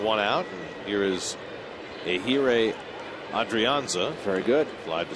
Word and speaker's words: Ehire: I think I got a little too much H in there. Say it again. It should be Ehire. See, Bill just said it in our ear. Perfect. You got it just right. He did? Bill? That would be like the first time all year. I don't think so. Adrianza flied to center his first time up. Last name's easy. Yes. The first name that's hard. Those silent H's are silent, and J's have a